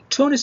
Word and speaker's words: Tunis: فتونس as a capital is Tunis, but the country is Tunisia. فتونس العاصمة تنطق تونس باللغة الإنجليزية، أما الدولة فهي تونيشيا اللي هي تونس كدولة.